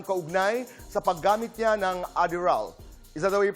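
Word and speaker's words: Adderall: Ayon sa Korean media noong 2010 inimbestigahan si Park Bom kaugnay sa paggamit niya ng Adderal. Is that the way you pronounce it, RD?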